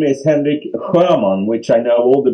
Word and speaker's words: Henrik Sjöman: thank you and yeah and my name is Henrik Herman which I know all the Brits have difficulties to pronounce which is fine no worry about that